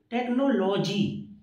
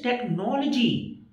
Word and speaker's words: technology: Suppose you have to say technology, but agar aap ye kehte ho technology, so sirf isi baat pe aapka wahan rejection ho jayega. It is technology, not technology.